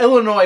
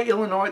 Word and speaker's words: Illinois: has that problem because nobody says Aransas everybody seems to know that S at the end of Arkansas isn't supposed to be pronounced but I guess a lot of people didn't get the memo for Illinois anyway second question how